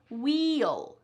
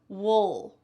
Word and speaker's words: we'll: It is not clear, we'll. It's not clear like that. It's wool, wool. And this is what happens when you're speaking in a regular speed, relatively fast American English pronunciation.